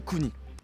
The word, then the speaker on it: Kuni: Et oui, le U se prononce OU, donc on dit Kuni.